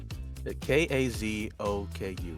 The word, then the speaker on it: Kazoku: diamond's the other one or something like what spell it up real quick what's your name okay you say it again k-a-z-o-k-u h kazoku yeah that's what it is